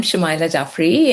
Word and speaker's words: Shumaila Jaffery: So I'm Shamaya Jaffrey and uh I am a journalist currently doing a PhD at the University of Leeds.